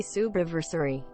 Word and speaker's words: subiversary: Yay, Subiversary. Love your face. 3. It's pronounced subiversary, Streamlabs lady. Subiversary.